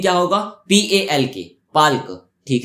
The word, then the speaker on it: Palk: यहाँ पे जो पाक है उसका स्पेलिंग क्या होगा? PALK, पाल्क।